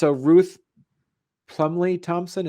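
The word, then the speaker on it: Ruth Plumly Thompson: And so then Ruth Plumley Thompson, is that how you say it? That's it.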